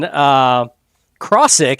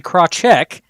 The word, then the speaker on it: Krachek: We have been saying Krosick, and it's actually Krachek.